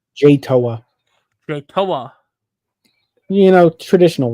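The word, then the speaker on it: Jay Toia: Jay Toa.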